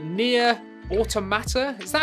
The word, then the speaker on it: Automata: say this right, Nier Automata? Is that how you say it? I always call it Automatica. It ain't that. It's Automata. I don't know.